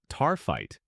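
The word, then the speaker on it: Taaffeite: Tap pronounced taright.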